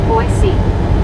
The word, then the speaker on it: Boise: said, "Boise is pronounced Boisey.